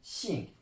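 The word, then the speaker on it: 姓: Quand il est collé à la clé de la femme, ça se prononce xing.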